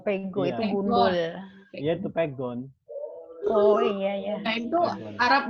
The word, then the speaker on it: pegon: Iya itu namanya huruf pegon. Pego. Ya. Pegon. Di Arab itu bikinan sendiri. Pegon Bu, bukan pego.